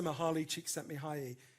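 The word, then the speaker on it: Mihaly Csikszentmihalyi: studied them for more than 50 years Professor mahali chick sent me high e it took me so long to learn how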